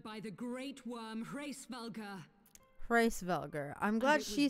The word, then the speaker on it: Hreisvelgr: Hreisvelgr.